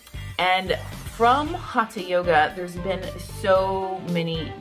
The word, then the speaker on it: hatha: the ancient language of yoga that tea is pronounced hata and from hata yoga there's been so many different evolutions but